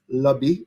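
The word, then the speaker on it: lambi: great shellfish as well lobby it's spelt l-a-m-b-i but it's pronounced lobby remember we always talk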